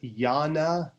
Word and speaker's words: Jnana: technique that is called Jnana yoga. Jnana, and it's spelled J-N, that's where you get the yan sound, J-N-A-N-A, Jnana yoga.